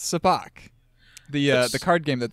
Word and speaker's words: sabacc: for the first time it's not pronounced sabacc that's how I've always pronounced it it's pronounced soo bahk the the card game